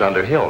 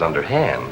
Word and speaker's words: Underhill: me such a fright mrs underhill not mrs underhand elizabeth mispronounce it your